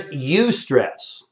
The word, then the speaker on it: eustress: that we choose to avoid and then there's eustress which is spelled e-u-s-t-r-e-s-s and what he said is that